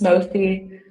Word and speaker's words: Mofeyi: Yes, the name is pronounced Mofi. I know that the Mofi. spelling of it can be scary, but Mofi is how to pronounce my name.